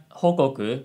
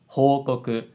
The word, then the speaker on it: 報告: She said something like 報告, but it should be 報告 and the key difference is the length of each syllable.